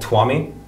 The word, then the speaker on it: Tuamie: I'll tell you right, my biggest musical inspiration at the moment, in terms of sound, there's this artist called Twamie. It's spelled Tuamie, and he is probably the best beat maker I've ever heard in my life.